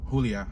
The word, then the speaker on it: Julia: Make note that you could pronounce Julia as Julia too, if you want to say it with a Spanish accent or a Spanish way of saying it.